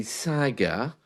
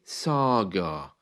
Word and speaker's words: saga: Some people say saga, others say saga, with an A, which sounds a bit different. It's because of the way we say things in English. France, in received pronunciation, is France in other parts of the UK. So saga or saga.